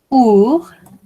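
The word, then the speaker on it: ours: Ici, on a our, on ne prononce pas le S. Our.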